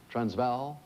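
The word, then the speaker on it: Transvaal: and richest gold Fields sorry it's the transval or transval I guess it is with the pronunciation enunciation there what what is it judge transval transval transval all right thank you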